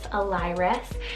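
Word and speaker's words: Elyrus: boys side i have a lyric about e-l-y-r-u-s alires and this one's a town name in ancient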